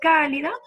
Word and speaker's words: cálida: Entonces, cálida es una palabra que lleva tilde.